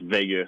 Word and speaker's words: Veilleux: back to Quebec and try to tell them it's Veilleux and not Veilleux, how does that go? Oh, that doesn't work. No, that doesn't work. It's Veilleux. There's only one way to pronounce it in Quebec.